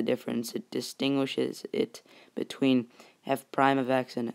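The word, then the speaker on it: f′(x): right here we have f prime of x that's how you say it f prime of x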